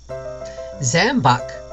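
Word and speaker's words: Zam-Buk: So, Zambuc is how it's pronounced, is a patent medicine which is produced by the Zambuc Company of Leeds, England.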